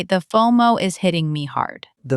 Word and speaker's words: FOMO: Always a long O. It rhymes with photo or mono. Fo-mo. Fo-mo, not fa-mo.